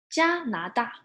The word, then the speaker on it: 加拿大: It's very similar to Canada, but you change one word, right? Instead of can, we say 加拿大 right?